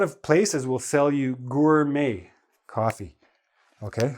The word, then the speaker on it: gourmet: Now, a lot of places will sell you gourmet coffee. Okay, how do we pronounce this? Gourmet. Okay, it's a French word.